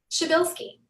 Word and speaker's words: Przbylski: She said it's Polish, right? Is that right? Yep. Yeah, so it's not necessarily phonetically what you would think it would sound like. So Not even close.